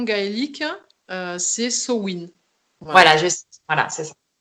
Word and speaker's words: Samhain: moi je le prononce Amen pour celles qui ont pas, qui Ouais.